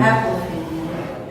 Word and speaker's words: Apophenia: Apophenia.